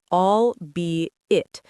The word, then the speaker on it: albeit: I kind of mumbled it, but the correct way to say it is albeit. 3 syllables, stress on the second one.